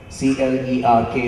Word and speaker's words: clerk: C-L-E-R-K is pronounced as clerk, not clerk.